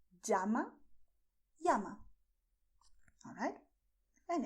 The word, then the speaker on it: llama: You can pronounce llama with the same sound that you have in English when you say jeans. Llama. You have another possibility, which is to say llama. Both of them are correct.